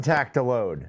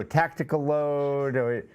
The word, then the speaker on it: Tactiload: they won well done tactiload and thanks for pronouncing it correctly i know we we go tactical load but tactiload won for